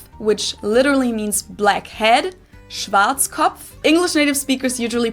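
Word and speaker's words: Schwarzkopf: Schwartzkov. English native speakers usually pronounce it Schwarz cop or Schwartz cough or something along those lines.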